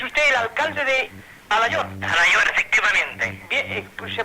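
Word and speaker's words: Alaior: Alayor, efectivamente. Bien, pues se pronuncia correctamente Alayor, ¿no? Alayor. Esto es Menorca. Con I latina.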